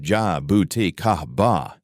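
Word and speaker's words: jabuticaba: Jabuda Cababa, pronounced ja bouti kahaba, is a Brazilian fruit that grows directly on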